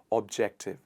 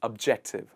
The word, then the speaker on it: objective: One very important thing with this word is how people pronounce the sound O here, and they say objective, ob. It's not ob, it's ub. It's objective. It means someone who is